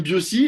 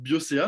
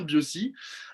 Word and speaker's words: Biosi: On enchaîne avec la gamme Biosi, et je fais en sorte de bien la prononcer parce que j'ai été repris plusieurs fois en prononçant mal avec Biocea, mais c'est bien Biosi.